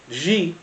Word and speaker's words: Xi: Trump talked to Xi. He talked to Xi. Ping ping. I thought it was she. She. I don't know how to say it. I say Xi. She.